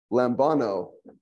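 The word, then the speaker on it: λαμβάνω: Lambano. Uh-huh. I take. Okay. Or could also be received. How'd you pronounce that, please?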